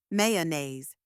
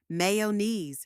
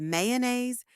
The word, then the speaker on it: mayonnaise: With Me Slowly mayonnaise now a little faster mayonnaise great job a common mistake is saying Mayon or my KNE but remember the correct pronunciation is mayonnaise with that soft uh in the middle here's